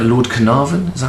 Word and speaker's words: Carnarvon: months, including, am I saying this right, Lord Carnarvon? Is that how you say it? Yes. Lord Carnarvon died shortly afterwards, and in actual fact, when